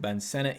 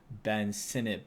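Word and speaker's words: Ben Sinnott: be talking about in a second but yeah Ben Senate was very good and uh some people are like why are you pronouncing it Ben Senate he says that's how you pronounce it so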